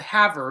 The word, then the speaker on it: Havre: It's called Havre, but it's spelled like Havre, Havre. So it's named after the Havre, which is in France. It's like Favre. It's like Favre, yeah, Favre.